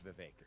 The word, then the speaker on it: Vivek: David uh so and thank you for saying my name correctly it is viveker so here's what I